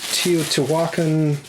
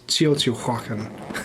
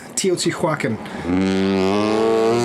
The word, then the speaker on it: Teotihuacan: Along with Tzolk'in, Teotihuacan. I just pronounced that wrong. It's Teotihuacan. Teotihuacan.